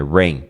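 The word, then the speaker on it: Rainn: Rain. Ele chama Rain Wilson. Só que é com 2 N's, ao contrário de chuva, que é com um N só, rain. A pronúncia é a mesma.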